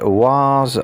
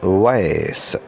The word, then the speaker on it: vase: Again, this word can be pronounced in two ways. In British English, it is pronounced was, or in American English, it is pronounced vase.